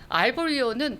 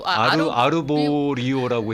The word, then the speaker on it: Arborio: 이태리 음식, 이태리 지역에서 나오는 쌀이 우리나라 쌀하고는 조금 다른 게 알보리오는 전분이 엄청 스펠링이 많아요. ARBORIO. 그래서 알보리오. 아르보리오라고 해야 되겠다. 그쪽 식으로 하려고. 아르보리오 이렇게 이야기를 여기는 하죠.